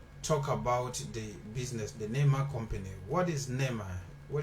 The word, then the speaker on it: Neema: Because I keep saying Neema. Is it Neema? No, Neema. Neema. So I'm right. Yeah. It's Neema.